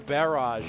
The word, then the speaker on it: barrage: You know, I used to just say barrage. That's like how like Americans say that word. But I've been playing a lot of Xenoblade Chronicles X, and Adam Howden plays one of the characters, and he says it the way the Brits do.